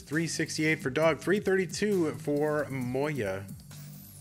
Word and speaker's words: Moja: for dog 332 for moya i still really want to say moja but and that that's you know that's not how it's said all right dog and